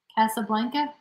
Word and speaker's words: Casablanca: say that that is how do you pronounce that casablanca that's what i would say yeah that's probably the american way to pronounce it we had we we